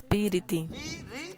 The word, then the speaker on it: पीरिति: पीरिति माने प्रीति में Priti means love. There are 3 syllables. Piriti, piriti, priti, piriti.